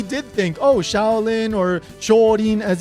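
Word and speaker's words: 少林: Maybe he did think, oh, Shaolin or Shorin, as it's pronounced in Japanese, works as a nice little ending, and Rin actually sounds cute.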